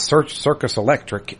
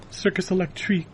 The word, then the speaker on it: Circus Electrique: It's not Circus Electric. It's spelled differently. Circus Electrique. He putting some This was- respect on their name. That's what that is. That's you got to say it right.